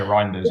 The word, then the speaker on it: Reijnders: title we've mentioned Reyers is that how you pronounce his name yeah reinders yeah reinders um the Dutch player and obviously